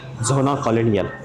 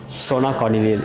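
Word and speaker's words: Zona Colonial: हम जा रहे अभी जोना कॉलोनियल सोना कॉलोनियल ये बोलते हैं यहां पे लेकिन स्पेलिंग अगर देखोगे तो जोना कॉलोनियल है एक टूरिस्ट स्पॉट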